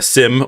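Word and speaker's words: SIEM: list is setting up a sim or seem however you want to pronounce that i'm going to say sim setting up a sim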